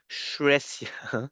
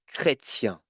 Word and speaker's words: chrétien: When ch is followed by a consonant, it will be pronounced like a k. So here you are not saying Shresia.